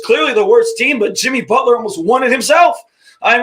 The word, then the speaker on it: Jimmy Butler: I got to correct you for a second. You pronounce his name wrong. He is Jimmy Butler.